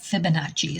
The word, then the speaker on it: Fibonacci: shell and the sunflower Fibonacci yeah I think Fibonacci is the correct pronunciation all right spirit and nature let's see